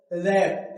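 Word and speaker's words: wrap: और देखो रैप या रैप।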